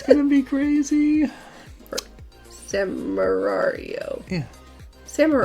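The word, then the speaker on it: Samurai Wario: Samarario. Yeah. Samarario. Like Samurai and Mario. Samarario.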